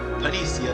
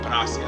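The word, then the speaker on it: Panacea: gauntlet as well as an online panicia that happened to be here or Panasia, that's what it's pronounced.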